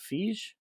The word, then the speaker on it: Feige: Is it Feige? Yes. Okay, I always want to say Feige because I'm an idiot. Um, No, he breaks the I before E rule.